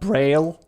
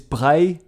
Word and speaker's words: Braille: It is not Braille, it is Braille, because the inventor of Braille is Louis Braille, which was French.